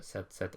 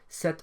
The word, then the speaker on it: cet: Starts with an H, which of course is silent, and therefore to make it flow, we use set with 1 T.